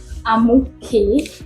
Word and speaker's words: Amuke: So, Mr. Amuke Sunday, yeah, that's the pronunciation.